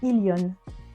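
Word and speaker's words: 일년: Effectivement, c'est comme pour solal, ça se prononce ilion.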